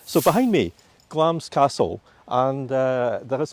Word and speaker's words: Glamis: well spell glams because a lot of people pronounce it wrongly yeah glams g-l-a-m-i-s and it was a childhood home of